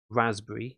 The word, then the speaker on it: raspberry: remember something like the spelling of raspberry it has a kind of a silent P in there but if you remember